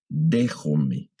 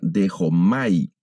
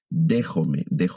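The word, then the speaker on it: δέχομαι: Si no conocemos el tema de los diptongos, vamos a pronunciarla dejomai, pero no es una lectura correcta, sino el diptongo alfa y iota lo debemos leer como una E.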